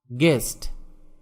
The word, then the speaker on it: guest: গেস্ট, GUEST, এখানে ইউ এর উচ্চারণ হবে না। গেস্ট মানে অতিথি।